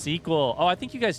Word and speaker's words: SQL: It's pronounced squeal. It's pronounced suckle. It's pronounced however the freak you want. SQL. SQL. How's it actually pronounced? Tell me so that I can forget and pronounce it how I want. Oh, I got caught on the sign. It's pronounced sequel.